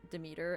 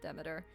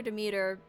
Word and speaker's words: Demeter: I call her Demeter because... yeah. When you say meter, you don't pronounce it meter.